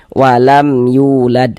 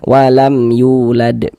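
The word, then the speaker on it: وَلَمْ يُولَدْ: Maka dibaca jelas bunyi mim sukunnya. Kemudian tidak didengungkan, maka dipaj dibaca pendek saja. Walam yulad. Nah, dibaca jelas bunyi mim sukunnya. Walam yulad. Yu dibaca panjang.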